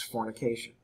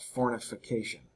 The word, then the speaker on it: fornication: okay can cubist us also make sure that you don't miss pronounce fornication I've had multiple students talk about fortification they get an extra F in there what is that well